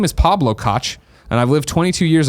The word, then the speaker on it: Koch: Lord of Pone says, Koch Media is pronounced like caw with a phlegmy bit at the end, so it's a soft CH.